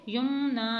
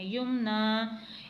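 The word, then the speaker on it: يُمْنَىٰ: वैसे ही रहती है, यानी उसमें हम साकिन नहीं करते, तो हम इसे युमना ही पढ़ेंगे, युमना।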